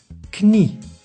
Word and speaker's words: knie: And for the English, K plus N we pronounce both. So knie means knee.